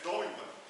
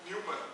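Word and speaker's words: Neumann: or both okay human some people pronounce as knowing in german pronunciation but looks like newman much more easier eventually newman okay let's announce another application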